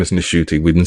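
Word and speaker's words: Ncuti: yes his name is NTI we've been saying his name wrong all this time the N is actually pronounced so it's not shuy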